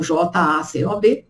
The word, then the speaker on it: Jacob: Então ele chamou Jacó, que na verdade se escreve Jacob, com B mudo, B de bola, mudo no final, então Jacob, que era o irmão gêmeo de Esaú, filho de Isaac e Rebeca.